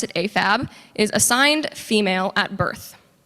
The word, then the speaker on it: AFAB: is male to female afab afab but we pronounce it afab is assigned female at Birth and amab is